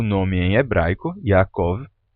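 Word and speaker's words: יעקב: É, então, você tinha na pronúncia originalmente esses sons, Yaakov.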